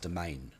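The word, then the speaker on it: demesne: tower we've got the domain pikeman see down the bottom there that d-e-m-e-s-n-e is actually pronounced domain so uh cannons make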